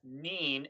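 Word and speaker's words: Nien Nunb: So, Tim Murray says, "Why does everyone pronounce Nien Nub as Neen, N-E-E-N, instead of 9? George Lucas' silly naming conventions that 10 Nub exists. Isn't 9 more logical?" That is a really good question. It's Nien, isn't it?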